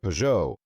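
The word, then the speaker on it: Peugeot: Excuse my French. It's like with Pujo. So many extra letters and they're not pronounced the way they should be.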